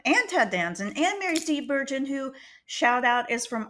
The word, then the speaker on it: Steenburgen: And she's like, "I'm going to tell you how to pronounce my name correctly." And I was like, "Girl, I got you. It's Steenburgen."